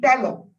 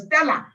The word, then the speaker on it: Stella: They say, Mama, it's not Tello, it's Stella.